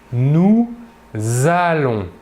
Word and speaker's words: nous allons: pluriel nous allons ici nous faisons une liaison entre le s final du pronom personnel nous et le verbe allons qui commence par une voyelle en l'occurrence le a donc nous prononçons nous allons pour la deuxième personne